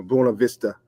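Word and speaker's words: Buena Vista: times, you start to see like, you know, Bua Vista.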